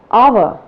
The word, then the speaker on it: hour: The first letter is silent. Let us see some examples which will make it very clear to you. Words like hour, honest, heir.